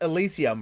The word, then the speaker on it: Elysyum: And it's pronounced Elysyum, right? Yes. Yes, I haven't butchered it.